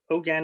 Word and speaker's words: Hogan: okay so um you know my uh oh ogan is a pronunciation pronunciation of my name my father gave